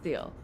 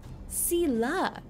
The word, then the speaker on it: Thiel: After being away for 1 week, I forgot how to pronounce Thiel's name. So, and I know it's not Thiel.